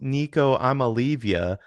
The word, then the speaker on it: Nico Iamaleava: First of all, his name is pronounced Nico Iamaleava because that's what he does.